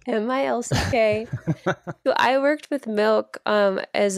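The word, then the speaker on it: MILCK: is an artist named Milk, and she released her song Quiet. It's like spelled funny though, right? What? The name, it's spelled like M-I-L-C-K.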